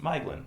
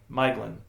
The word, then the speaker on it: Maeglin: But ae may be pronounced in the same way as i and oe as in English toy. So apparently it's supposed to be pronounced Miglin, which I got wrong a couple times. Say it again. Miglin. Miglin. Yeah. Which I got wrong the couple of times I pronounced it last week.